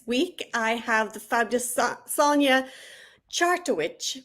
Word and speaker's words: Sonja Chartowich: This week I have the fabulous Sonja Chartowich, which I had troubles pronouncing because it is actually pronounced exactly as it looks.